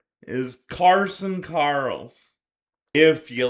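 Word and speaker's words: Carson Carels: And thank you to Ryan Pike for confirming that it is pronounced Carson Karls, and not Carols. I called him Carson Carols in his entire video. It is Carson Carls.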